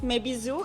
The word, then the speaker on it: Mes Bisous: to pronounce Mayo I don't know how to pronounce it but meizu may Biz and so there were a lot of confusions it's mayizo it's French it means my kisses as you